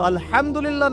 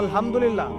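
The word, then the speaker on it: الحمد لله: তো আলহামদুলিল্লাহ না বলে সে বলেছে আলহামদুলিল্লাহ। ওই যে হায়ের উচ্চারণ পরিবর্তন হয়ে গেছে, এই কারণে অর্থ পরিবর্তন হয়ে দাঁড়াবে যে সমস্ত নিন্দা আল্লাহর জন্যে, যিনি জগৎ সমূহের রব।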